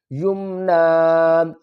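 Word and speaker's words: يمنى: نطفتم مم منی یمنا۔ وقف کی صورت میں یا کو نہیں پڑھیں گے، نون کو ہی پڑھیں گے، یمنا۔ آگے آپ دیکھیں یہاں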